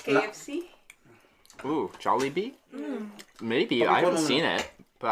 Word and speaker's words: Jollibee: jollibee there right how do you say that jelly bean no like kfc oh jolly bee maybe i haven't seen it i like it